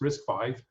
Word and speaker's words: RISC-V: And so it's RISC-V, pronounced RISC-V, and this is really the 5th Berkeley ISA.